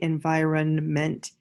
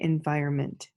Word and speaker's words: environment: we don't say on we don't say environnement we say environment okay and fire meant to say it with me environment and I run hunt and by Roe meant some people pronounce it differently so there's four syllables I must have four vowel sounds e i o e